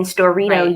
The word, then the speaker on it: Storrito: And then Storito, you can do 10 free story posts a month. Storito, like Dorito?